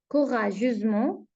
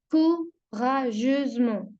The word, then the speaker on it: courageusement: lendemain Jean part courageusement je voile On on la prononce Z. Courageusement.